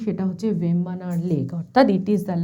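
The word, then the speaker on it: Vembanad: কিন্তু আর হিসেবে উচ্চারিত হবে, এই জন্য এর উচ্চারণটা কিন্তু হবে ভেম্বানাড় লেক, নট ভেম্বানাদ লেক।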